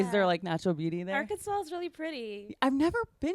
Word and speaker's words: Arkansas: The S is confusing. Yeah. It's spelled like Arkansas. Yeah. Like us too. Yeah. Or a pirate. Kansas. Yeah, it's spelled like that. but it's not. It's not said that way at all.